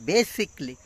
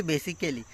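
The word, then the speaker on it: basically: এখানে বলছে বেসিক্যালি বলে না, এখানে বলছে বেসিকলি, বেসিকলি, বেসিকলি, আমরা বলি বেসিক্যালি, কিন্তু না, এখানে দেখতেছি আমি ওরা বলল বেসিকলি, অর্থাৎ খেলির সব চলে গিয়ে অর্থাৎ বেসিকলি, শর্ট, একদম শর্ট, বেসিকলি।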